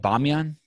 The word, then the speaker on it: Bamiyan: for me crossfit yeah am i saying it right bamiyan yep sounds armenian yeah almost